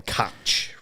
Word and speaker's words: Koch: 12 seconds remaining, Sam Koch ran the. I believe it's pronounced Cook.